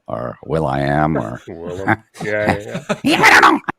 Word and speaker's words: Willem: if you someone hopefully told me try and William Dafoe. Yeah, I kill him. Yeah. Well, how do you, Beavis? How do you pronounce it? Is it Willem or Will I Am or? Willem.